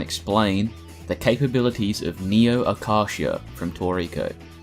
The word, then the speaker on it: Acacia: neo Akasha from toriko my understanding of the pronunciation is that it is Akasha that's how it's said in Japanese at least so I'm going to use that for this video if you think it's Acacia like the tree then that's fine whatever